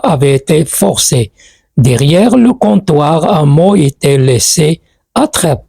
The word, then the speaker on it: comptoir: parfait derrière le comptoir on dit comptoir on prononce pas le P le comptoir à mot